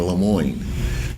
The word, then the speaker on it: LaMoyne: He never pronounced my name the way it's pronounced. Instead of saying Lemoyne, he always said Lemoyne.